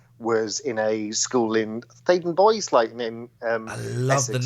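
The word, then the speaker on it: Theydon Bois: My first PGC placement was in a school in Thaden Boys, I love Essex, the name Thaden Boys. I used to pronounce it Thaden Bois.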